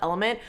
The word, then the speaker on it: LMNT: Also, fun fact, so it's pronounced element. Carly drinks this as well. And she was telling me about it and she kept saying um element tea. Element tea. element tea. In my head, I'm like, "Oh, she drinks this thing called element tea."